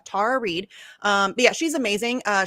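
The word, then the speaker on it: Tara Reade: the other day amazing it's tara and i keep i wish everybody would say it the right way because then when somebody says it wrong then i say it wrong because i'm terrible at that stuff anyway it's tara tara reed um yeah she's amazing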